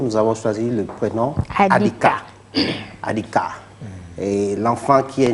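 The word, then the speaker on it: Adikea: On lui donne souvent ce nom, Adika. Alors, Adika s'écrit A-D-I-K-E-A. Adika.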